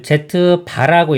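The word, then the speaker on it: z̄: Z 켤레 복수라고 합니다 그리고 나타날 때는 Z 렇게 선을 긋는데 걸 Z 바라고 읽어요 Z 바 또는 뭐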